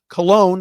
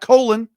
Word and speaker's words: Colon: Cologne is how you pronounce his last name, not Colon.